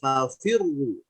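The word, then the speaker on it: فَفِرُّوا: Tapi kalau misalkan sebelumnya, perhatikan, kasroh, kemudian ada huruf ro-nya hidup, berharokat dhammah, maka ro-nya tetap mengikuti kaidah yang pertama, adanya fathah atau dhammah, maka itu dibaca tebal, fafirru.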